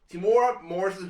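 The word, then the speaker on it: Temuera Morrison: I'm sorry, it's hard for me to pronounce names. T T Timura Morrison. Timura Morrison. There we go. Timura Morrison, who portrayed Boba Fett, and showed up there as well too, and a few other people.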